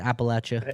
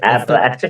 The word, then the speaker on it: Appalachia: They're like, "You're supposed to say it like throw an apple at you." Like, "Throw an apple at you." That's how they say it. Appalachia. Appalachia.